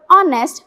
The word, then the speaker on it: honest: For example, we pronounce the word honest with a silent H, but in the spelling,